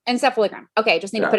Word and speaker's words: encephalogram: right okay almost close can you pronounce that for me correctly encephalogram encephalogram okay just need to